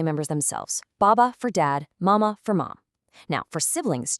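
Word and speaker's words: 妈: It's simply there to tell you, hey, this character sounds like ma.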